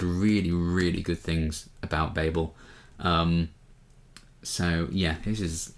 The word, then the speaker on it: Babel: for a while is Babel by RF Kuang or Babel. I think we're supposed to pronounce it Babel. It depends on where you come from, I think, how you pronounce this.